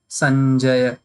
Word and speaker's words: Sanjaya: So when you will pronounce, then you will pronounce this also like Ganga. So the sound should come like that, like Sanjaya, Sanjaya.